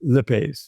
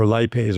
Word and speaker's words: lipase: One last thing, lipase or lipase, or if you want to pronounce it.